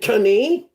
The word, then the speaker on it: knee: The K is silent.